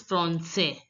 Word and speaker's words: français: En français. AN is pronounced as en. En français. S is the last letter S is not pronounced. And AI is pronounced as grave accent E. So it becomes français.